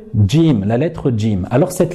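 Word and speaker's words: جيم: faut bien comprendre c'est qu'il ne faut pas la prononcer gym surtout lorsqu'on réussit le rôle dans la récitation du reprennent ce qu'il faut dire c'est jim comme si qu'il y avait un petit des juste devant jim déjà j zhu et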